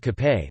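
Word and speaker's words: kape: options to take with cape which is the filipino pronunciation of cafe coffee breads and pastries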